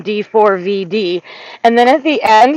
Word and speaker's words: D4vd: calling him David because you don't pronounce a four. When you see a four, you pronounce a four." So he's like, "I'm calling him D4 V D."